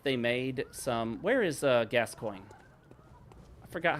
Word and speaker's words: Gascoigne: It is literally pronounced Gascoigne. It even says the first syllable sounding like gas and the second syllable sounding like the word coin. I'm pretty shocked. I thought for sure Gascoigne was a mispronunciation.